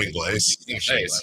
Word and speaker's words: Ingles: It's pronounced Joe Ingles.